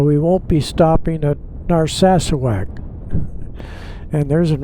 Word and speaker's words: Narsarsuaq: Some of you hear them pronounce it Narsarsuaq, and they don't get one of the R's in there, and sometimes they don't get the final K in there. But the way I heard it was Narsarsuaq and Reykjavik.